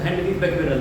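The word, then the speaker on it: Henri Becquerel: सही शब्द अगर हम देखें, अगर पहुंचे तो हेनरी बैक्वेरेल है।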